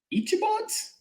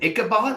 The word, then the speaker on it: Ichabod: They're the Washburn Ichibots? I do not. I can't say that I do. Yeah. Ichibots? Ichibots? What is an Ichibot? It's an Ichabod. Let's find this out. Ichabod?